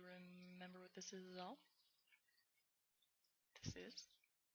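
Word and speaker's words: あ: there G the a it's pronounced as in Father a g it's not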